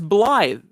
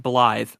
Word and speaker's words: Blaidd: It's spelled B-L-I-A. No, it's Blaidd, but it's pronounced Blythe. What? Yep. But that's It's so Blade.